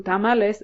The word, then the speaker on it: tamale: people and I'm like it's not tamales it's tamale it's notal yes we pronounce